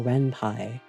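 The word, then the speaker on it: Ren'Py: So, Renpai, it's pronounced Renpai. Wow. So, Renpie, I could probably honestly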